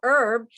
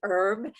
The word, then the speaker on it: herb: is it her or herb and as i told you here in the states we say herb the h is silent and you um along